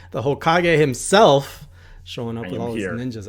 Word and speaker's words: Hokage: used to go around saying Hokage the wrong way and I would tell people like I would say the hole cut oh god I can't even say it wrong anymore oh god yeah Hokage okay it was hole qoj I tried to say like French and people just made